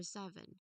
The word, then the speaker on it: seven: I've mentioned earlier um it is a twocllable word where the first syllable really carries the primary stress here or energy let's say for better understanding.